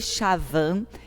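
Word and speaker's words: Schwann: constituído de células levou shehtman e gilman pronúncia pronuncia-se sean e schavan dois cientistas alemães a propor em 1838 a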